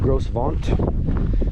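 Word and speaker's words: Gros Ventre: East that is the Grove all mountains out that direction that is French if you're uh English like me it is spelled g-r-o-s-b-e-n-t-r-e so it's like gross vaunt it's French let's go home big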